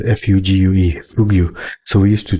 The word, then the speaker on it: fugue: It's spelled F-U-G-U-E, Fugue.